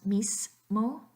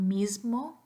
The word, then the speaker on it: mismo: hear a lot is many of us pronounce nice mole but we really want mismo because mm is voice so just start listening